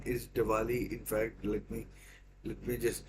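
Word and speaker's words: Dvali: think his name is Diwali. In fact, let me just check because I don't want to pronounce it wrong. It is Diwali, and it reminds me of the festival, Indian festival, Diwali.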